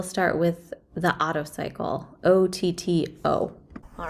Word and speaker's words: Otto: with the auto cycle it's not spelled a-u-t-o it's spelled o-t-t-o but it does relate very much to the a-u-t-o auto cycle all right so here's